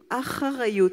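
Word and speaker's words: אחריות: Responsabilité, en hébreu, ça se dit acharayut. C'est pas facile à prononcer.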